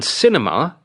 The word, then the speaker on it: cinema: On cinema, it is the first syllable. Cinema.